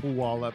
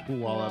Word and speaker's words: Puyallup: Yeah, it is mentioned, and they mispronounce it multiple times. Absolutely, I think they call it Puyallup. Yeah, it's Puyallup. Yeah.